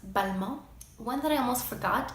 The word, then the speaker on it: Balmain: known as Simeon we also have Balmain also pronounced but mo one that I almost forgot is Jean Paul